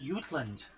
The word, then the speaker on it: Jutland: And it's pronounced Utland. Of course it would be. Yes. Cuz J's are pronounced as a Y in German.